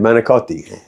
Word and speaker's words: manicotti: said D doino no how do you say m a c o TTI they said manot so manot I mean why did you even pronounce the I and the end of manicotti see even you are